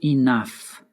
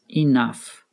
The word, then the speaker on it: enough: We can say, Max is not old enough. Here, we used an adjective plus enough. Notice how I pronounced enough. Enough. It sounds like it ends in an F.